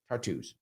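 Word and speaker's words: Tartus: tart there we go that's that's how you pronounce that Port tartos here we go perfect all right um let's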